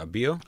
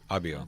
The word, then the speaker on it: Abio: Now, how do you pronounce it? Abio? abio. Abio. Like, I get it. Abio. Yeah. Ask anybody else, and there's like 27 different ways to pronounce four letters. But yeah, abio.